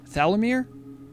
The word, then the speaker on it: Thalamir: The two A's are long, very long A's. Thala. Oh, okay. Yep. Okay. So again, that's traditional night elf pronunciation. That's Kaldori pronunciation. Yeah. They love to elongate all of their vowels.